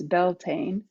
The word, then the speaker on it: Beltane: gaelic word for the may festival which we pronounce beltane finds its root idea finds in its root